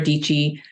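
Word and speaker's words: Dietschy: saw another YouTuber um it's Sarah dichi it rhymes with peachy and her whole thing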